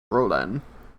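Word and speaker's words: Rolen: too yeah that's because that's how i was pronouncing it so perhaps i misspelled it it's r-o-l-e-n rollin did i i hope i didn't do it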